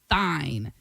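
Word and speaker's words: Thinh: It's called Thine. T H I N H. I don't know if I'm uh pronouncing that correctly. It's pronounced teen.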